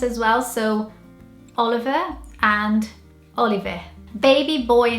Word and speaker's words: Oliver: this one here, which in British accent you'd probably say Oliver, and Brazilians would say it Oliver.